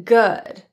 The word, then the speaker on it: good: have a good one the vowel in good is an Upsilon vowel rather than ooh or that ooh pronunciation that's often confused with the Upsilon vowel is pronounced with a more relaxed lip position than oo and the tongue and the jaw are in a more neutral position as well it's kind